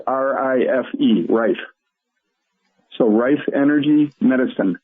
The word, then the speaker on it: Rife: That's spelled R-I-F-E, Rife.